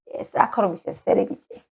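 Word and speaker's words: Saccharomyces cerevisiae: 요거 그대로 발음나는데 읽어보시면 됩니다. 사카로. 여기까지 사카로죠. 여기까지가. 미세스, 세레비지, 사카로미세스, 세레비지.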